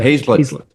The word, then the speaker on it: Hazlett: Yeah, Hazlett. You're pronouncing it like it's spelled, though, so I never hold that against anybody.